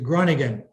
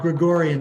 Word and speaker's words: Groningen: me let me go back here these the groningen not gregorian the groningen pieces i probably said it wrong